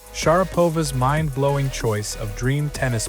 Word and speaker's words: Sharapova: pronouncing her name as Sharapova. But the shocking truth? That's wrong. The actual pronunciation is Sharapova with R as in Mary and A as in father, stressing the second syllable.